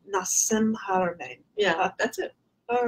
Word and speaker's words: Nassim Haramein: Nassim Haramein. Nassim Haramein.